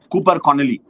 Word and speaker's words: Connolly: Sangha, Zampa, Maxwell, and Cooper Connolly I mispronounced him as Copper Coooonoly Remember the time when